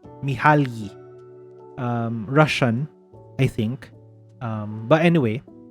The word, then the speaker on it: Mihaly: How do you pronounce this person's name? Mihaly.